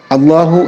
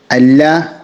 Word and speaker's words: الله: അള്ളാഹു എന്ന പദത്തിന് മുമ്പ് കസ്ർ വന്നതുകൊണ്ട് തന്നെ ഈ പദത്തെ നാം തഫ്ഹീം കൊടുക്കരുത്, മറിച്ച് തർക്കീഖാണ് കൊടുക്കേണ്ടത്. അള്ളാഹ് എന്ന ഉച്ചാരണത്തിന് പകരം അല്ലാഹ് എന്ന ഉച്ചാരണമായി മാറും.